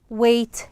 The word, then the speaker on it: weight: weight lifting weight lifting weight lifting so here the G H yes it's again silent okay so it is